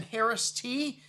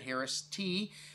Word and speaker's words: Haraszthy: winery the founding father of california viticulture augustine harris t yes that's how you pronounce that harris t and uh this gentleman was uh an innovator